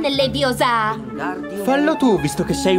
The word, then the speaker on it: Leviosa: Per di più sbagli pronuncia. È Leviosa, non Leviosa.